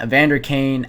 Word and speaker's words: Evander Kane: Draisaitl gets the primary assist on this one as he wins the face-off towards Evander Kane, that's how you pronounce his name.